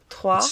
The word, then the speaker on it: Troyes: Troyes. Yeah, they said it's pronounced the same as we tree.